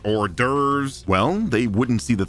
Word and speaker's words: hors d'oeuvres: There's plenty of words with a silent H. I mean, you got heiress, heirs, hourly, honestly, heirlooms, homage, hors d'oeuvres.